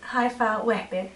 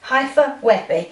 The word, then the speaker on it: Haifa Wehbe: And we are going to do, you do the pronunciation because I got it wrong. Haifa Wehbe. Haifa Wehbe.